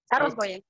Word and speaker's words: Sarul Bhuiya: Mungun, how do you pronounce the Sarul Bhuiya name? Can you hear me? Yeah, you are correctly pronouncing. Sarul Bhuiya.